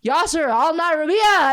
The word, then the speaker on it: Yaser Al-Nyrabeah: Our guest for today, Yaser Al-Nyrabeah, everybody. I come in peace. Did I pronounce your last name right?